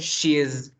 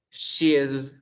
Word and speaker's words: she's: notar que aquí yo hago una vibración, mira. His. His. She's. It's. Acá es una S, acá es como una Z, mira.